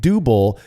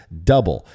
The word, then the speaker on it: Dubbel: of years ago and I was calling it Dubble and he kind of gave me that face of uh why are you saying it that way and explained to me that in Belgium it is pronounced double now I know that we went through this